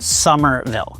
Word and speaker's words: Somerville: Here, it's pronounced Somerville.